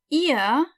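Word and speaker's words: ihr: it's via okay via eeeh rhymes with via it's exactly the same sound but you just omit the v sound at the beginning yeah also it sounds like the body part if you pronounce it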